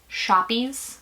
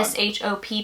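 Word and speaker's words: shoppe: the other day that it's not pronounced shoppies oh my God s h o p p e it's not a shopy we had that discussion it's a shop you know what anyway you're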